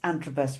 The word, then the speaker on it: Antrobus: Did I pronounce Antrobus right?